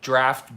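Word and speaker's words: draught: Or like draft beer is D-R-O-U-G-H-T. Draft.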